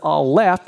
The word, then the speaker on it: Aleph: example you can hear when I say the letter Aleph you hear the whole and the F sound right so this is